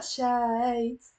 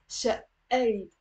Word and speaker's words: شقيت: So notice there's a it's not شايت, and it's not, we're not pronouncing the قاف شقيت. No, it's شقيت. And there is a شدة on the you're pressing on it.